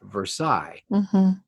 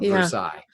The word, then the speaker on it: Versailles: It's pronounced Versailles. Why? There's an E-L-L-E. We don't know, but that's the French pronunciation. That's the correct pronunciation of Versailles.